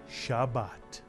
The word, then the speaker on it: Shabbat: the tough and the word is pronounced shabat and my friends if